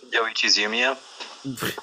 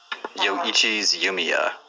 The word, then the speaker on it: Yoichi's Yumiya: Yoichi's Yumiya. One more time. Yoichi's Yumiya. Oh my gosh, I'm probably not gonna be able to do that. All right, say it after me. Yo. Ichi.